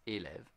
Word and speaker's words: élève: So élève has two syllables, é and lève.